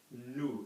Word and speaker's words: nous: So we don't pronounce a letter if there's not a vowel after it.